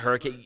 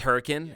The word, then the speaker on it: Hurricane: Is that like in Utah when you drive through a city that is literally named Hurricane, but it's not Hurricane, it's Hurricane?